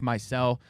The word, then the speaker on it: Meisel: It's Zach Meisel, not Zach Meisel, excuse my pronunciation, who